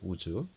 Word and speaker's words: 우스: 우스라고 하는 것은 원래 발음은 우즈입니다. 우즈.